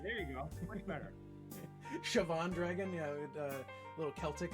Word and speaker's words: Siobhan: you've shown me the light of the correct pronunciation all right there you go much better siobhan dragon yeah a little celtic in there i